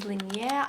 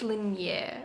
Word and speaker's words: Linjer: It's a Norwegian word, so I'm sorry if I'm butchering it, but I believe it's Liier. Lineer.